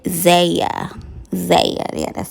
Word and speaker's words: Zaya: and gender of his trans daughter said zaya zaya yeah that's how you say it yes i'm